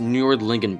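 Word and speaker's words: Nördlingen: of hang on okay so it's pronounced nordlingen be the Swedes are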